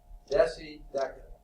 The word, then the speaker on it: deca: We've already hit on our very first one, deca. Now, I remember that this way. What do 10 years make? A decade. Deca, hard C sound. Deci, a decimal point, that's the small, okay, soft C sound.